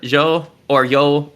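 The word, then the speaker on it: jo: Uh I'm the only thing I have to ramble on right now is to bona because the current words I'm learning are yo because j is pronounced as a y.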